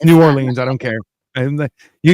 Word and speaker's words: New Orleans: Is every time I say New Orleans, and they're like, "Don't pronounce it like that," and I'm like, "Why?" They're like, "It's Nolans," and I'm like, "It's not. It's New Orleans.